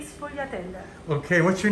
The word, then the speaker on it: sfogliatelle: Sfogliate e sfogliatelle.